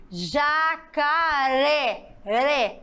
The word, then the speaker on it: jacaré: ou proparoxítona vamos lá rapidinho jacaré se ela foi pronunciada com mais intensidade logo a sílaba tônica dela foi na última se ela é a última ela é o que na sua classificação oxítona muito bem Vocês entenderam